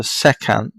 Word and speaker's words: secant: Sec is just short for the secant. That's what the full word means, says. That's how it's spelled, yeah, pronounced.